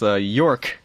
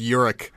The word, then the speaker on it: Yurik: You kept calling yourself York, but it's Yurik.